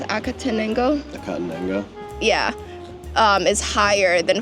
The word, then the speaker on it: Acatenango: go for it because the how do you pronounce acatenango?